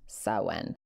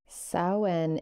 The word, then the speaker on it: Samhain: i n but it's a Celtic tradition that's pronounced saen saen is a Gaelic Festival on the 1st of